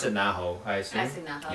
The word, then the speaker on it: Naho: The main character is chick named, I pronounce it Naho, I assume. I see Naho. Yep. Naho, okay.